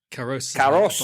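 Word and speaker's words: Karous: Karos. Like crow in Japanese, is that right?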